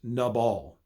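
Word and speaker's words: נָבָל: Okay, the next kind of fool is in Hebrew pronounced nabal.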